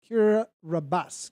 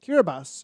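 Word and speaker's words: Kiribati: right now and uh kira uh kira rabbas kiribas is how it's pronounced keith robertson is letting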